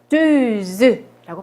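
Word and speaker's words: chanteuse: 요거를 샹뚜즈라고 발음하시면 돼요.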